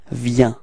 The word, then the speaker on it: viens: Okay, so you can notice that it's ending with S, but we don't pronounce it. So we actually only pronounce V, so the V, and then the ya ya ya. Okay, so let's combine them and we get viens. Repeat.